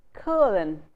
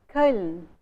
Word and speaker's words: Köln: So say the vowel sound A is in German, like the sound in the German spelling or German pronunciation of the city of Cologne. You say Köln, Köln. That sound A, Köln, is not there in Indian languages.